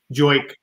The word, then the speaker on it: jerk: Isn't the jerk pronounced differently? Joik. Joik, yeah. It is the joik.